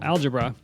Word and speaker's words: algebra: book algebra and uh later the emphasis was on the first syllable algebra but uh that's where